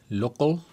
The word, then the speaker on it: Local: Local se pronuncia en inglés y es desarrollado por Flywheel.